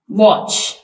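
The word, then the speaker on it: watch: verbs है हमारे पास वच इसमें टी साइलेंट है और इसी तरह कैच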